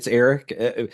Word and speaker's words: Aric: But yeah, it's Aric, just like a normal ERICK whatever.